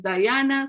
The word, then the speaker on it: Diana: And I always need to be corrected on this because Diana is how we said it in Spanish, but in English is Diana.